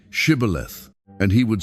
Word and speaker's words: Shibboleth: If he said, "No," then they would say to him, "Then say Shibboleth." And he would say, "Sibboleth," for he could not pronounce it right.